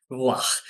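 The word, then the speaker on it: רוּחַ: pronunciación en hebreo es ruach, y es una R casi como la R francesa, que es un poco enroscada, pero si le escribimos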